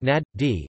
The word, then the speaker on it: Najd: Najd or Najd Arabic, Enjd pronounced Nad-D, is a geographical central